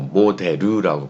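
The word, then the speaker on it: モデル: 그래서 그 리을 받침을 못하니까 모델이라고 발음하지 않고 모데르라고 발음을 합니다.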